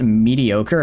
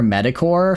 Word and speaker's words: mediocre: Um, I pronounced mediocre metacore for all pretty much my entire life and only recently had it corrected.